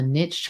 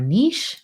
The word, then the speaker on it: niche: to kind of like what they call a niche or a niche right depending how you want to pronounce pronounce that word can be so hard